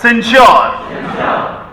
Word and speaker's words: censure: What is censure? Note कर लीजिए, CENSURE, censure। देखिए इसका उच्चारण कितना सिंपल है, बोलिए सिन श्योर, सेंश्योर, सेंश्योर।